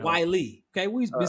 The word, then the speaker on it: Whyle: Whyle.